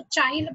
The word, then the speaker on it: chyle: Okay, C-H-Y-I, तो chyle पढ़ने का नहीं है उसको, we will pronounce it as chyle.